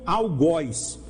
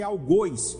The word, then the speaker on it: algoz: que que eu repeti porque muitos pronunciam algoz a palavra pronúncia correta é algoz vocês podem consultar dicionário Aurélio e entre parentes tem